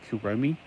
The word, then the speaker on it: Kuromi: name let me know I'm just trying to go with the Japanese pronunciations this is a three-letter word uh C Ro me I kuromi Mi is a e sound in Japan and most other countries like France so uh if I'm